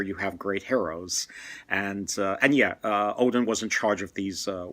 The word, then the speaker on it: Odin: him Odin, but actually, if you look at Old Norse, sometimes a symbol is used for the D, and it's not a D. It's the symbol for the sound, the voice th.